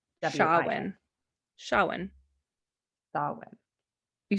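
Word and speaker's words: Samhain: it I got it so how you would spell it it's s a m h a i n but the way that you like the way that you say it is s h a h yeah Shawan Darwin you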